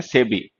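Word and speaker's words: SEBI: एस ई बी आई इसको नहीं बोला जाता। इसको हम एज अ वर्ड प्रोनाउंस करते हैं सेबी।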